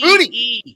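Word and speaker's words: Boutte: B-O-U-T-T-E. Booty. It's Booty. Booty. Kayshawn Booty.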